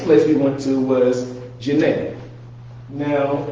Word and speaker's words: Djenne: So the next place we went to was Djenne. Now, you do not pronounce the D like Django, right?